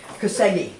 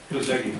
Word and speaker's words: Koszegi: And judging by the expression on Cindy's face, I messed up the pronunciation of the last name. So you read instead of listened. I'm really. Koszegi. Yeah, Koszegi.